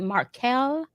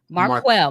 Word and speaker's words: Marquel: So just give us a little bit about, and make sure I'm pronouncing, is it Markel or Marquel? It's Marquel. Mark.